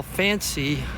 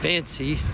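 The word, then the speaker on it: Fansé: I'm saying that right f-a-n-s-e fancy has like a Mark over the top of the E there and makes it a long e I think fancy so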